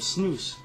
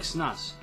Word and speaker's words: snus: Speaking of snus, it's pronounced snus, you know? It looks like snus. But everyone around here, all my friends, they all say snus, and it pisses me the fuck off.